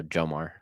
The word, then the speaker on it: Jomar: So Jomar. Perfect. Good to know. I'll make that note. Like Tamara. Got it.